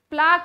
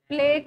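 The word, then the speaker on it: plaque: हाँ प्लाक deposit हो जाता है उसमें, प्लेक और प्लाक जो भी प्रोनाउंस करते हो आप, प्लाक डिपोजिशन हो जाता है।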